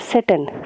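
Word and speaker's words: Tsetan: ना ये जो नाम लिखा है सेटन, ठीक है, ये टी सेटन करके लिखा है ना, तो टी साइलेंट है, सेटन हम इस चैप्टर में इसको बोलेंगे।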